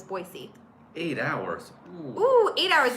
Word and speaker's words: Boise: trained in Boise and they made sure to point out that I needed to say it correctly so ever since then I will always say it is Boise eight hours who eat